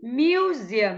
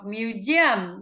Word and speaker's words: museum: Cái từ số 10 chúng ta có thể đọc hai cách, hoặc là museum hoặc museum đều được.